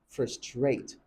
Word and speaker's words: frustrate: pronounce frustrate as frustrate in Nigerian English omitting the r instead of saying frustrate you hear them say frustrate frate frustrate that's wrong so it should be frustrate frustrate although in American